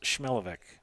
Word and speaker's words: Schmelovic: Kind of an interesting spelling of her last name, but he told me it was pronounced Schmelovic.